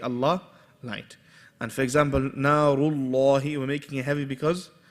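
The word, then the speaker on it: نار الله: Make sure the na is light. Narullahi.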